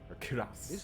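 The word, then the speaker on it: cuirass: the gauntlets and the quas kuras that's how you pronounce that to much hassle more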